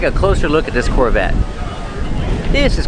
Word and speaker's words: Corvette: This Corvette's from the 70s. And let's talk about pronunciation. Corvette. The T is a stop T. The E is silent. Corvette.